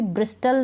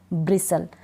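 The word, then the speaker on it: bristle: इसको भी ब्रिस्टल नहीं ब्रिसल, कास्टल नहीं कासल।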